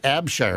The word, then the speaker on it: Abshire: Nate Abshire. Is that how that's pronounced? Yep. Nate Abshire.